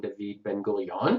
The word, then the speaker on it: David Ben-Gurion: is this man named David Ben-Gurion. I say David, I know it says David, but in Hebrew you pronounce his name David Ben-Gurion.